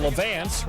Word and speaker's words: Levance: However, Sam Young and Levance rhymes with pants fields too much Pittsburgh for Texas Tech.